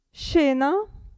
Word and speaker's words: scena: né qui né qui abbiamo il gruppo sc che si pronuncia che se scena provate scendere è un